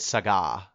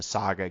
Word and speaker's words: SaGa: ff2 and then the saga games um and i said sega because it's spelled capital s a capital ga um yeah so jeff